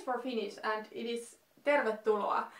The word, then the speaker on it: tervetuloa: to say it, like, most of the people who speak English as their native language are like, tervetuloa, but no, it's tervetuloa.